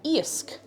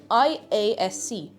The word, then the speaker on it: Iasc: Iasc. I-A-S-C.